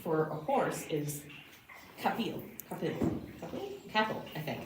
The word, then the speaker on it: capall: The Gaelic name for a horse is capel, I think it's called pronounced capel.